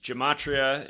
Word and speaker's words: Gematria: Gematria is spelled like Gem, G-E-M, and then A-T-R-I-A, Gematria Effect with a E, .news.